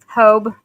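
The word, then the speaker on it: Hobé: but it was said Hobie, wasn't it? Like hope. Hobe. Okay. So, it's like Hob like hope without the P and a B instead.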